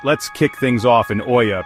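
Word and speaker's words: Oia: Alright, let's kick things off in Oya, pronounced E-A.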